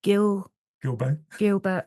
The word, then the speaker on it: Gilbert: I heard one that you shared with I'm just thinking Simon Gilbert.